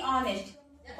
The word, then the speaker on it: honest: Okay, ऑनेस्ट word, इसको H जो है इसमें साइलेंट, अक्सर दिखेगा आप H वाले जो H के बाद यदि O आता है या कोई वॉवेल ऐसा आता है तो H साइलेंट हो जाता है। तो HONEST क्या पढ़ेंगे इसको, ऑनेस्ट, हॉनेस्ट नहीं पढ़ेंगे, इसको क्या पढ़ेंगे, ऑनेस्ट। H हमारा साइलेंट हो जाएगा।